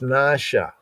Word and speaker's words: נשא: in the English and ignoring the diacritical marks like the N over the A is a long A sound, right? The stroke over the A over the S is like an inverted arrowhead, and that means that that S is syllabated.